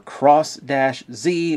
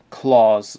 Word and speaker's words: Cross-Z: started and talk about the Claws Dragon, or Cross-Z, or Craws, or however you want to say it. I'm pronouncing it the way they pronounce it in the show, Claws Dragon.